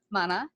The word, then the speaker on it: Mana: a wonderful copy of your book, Road to Mana.